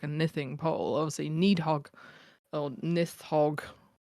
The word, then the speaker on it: Nithing: I'm gonna pronounce it Nithing. Nithing. Yeah, short I.